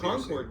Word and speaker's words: Concord: Concord does. Concord. No, down here is Concord. That's what I call it. But I call it Concord because that's what it's spelled.